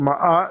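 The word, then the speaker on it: Maat: name of Egypt and you spell it m a a t and it's called Ma and it means truth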